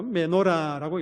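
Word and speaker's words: מנורה: 히브리어로는 이렇게 읽습니다. 어, 메노라고 읽습니다.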